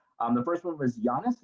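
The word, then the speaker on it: Yonnus: the first one was giannis is that the way it's pronounced y-o-n-n-us yeah yona saktani uh he is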